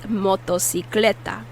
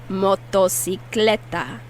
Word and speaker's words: motocicleta: motorcycle in spanish is motocicleta motto so one c is pronounced as an s and the other c is pronounced as a k as a k repeat moto sicleta and a lot of